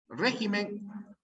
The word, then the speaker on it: régimen: régimen no era régimen régimen régimen les dije régimen es una palabra esdrújula régimen así Eso es